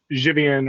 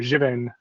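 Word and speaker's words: Żywiec: there's a beer that's spelled z-y-w-i-e-c um which is called gibbits and I think like jivian or jivin is how you pronounce it in Polish but um I'm not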